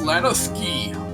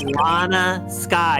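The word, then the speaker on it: Lana Skye: Court will now reconvene for the trial of Miss Lana Ski. It's Lana Sky. It's not even that rare of a name.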